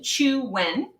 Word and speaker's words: Chuen: Pronunciation, Chuen.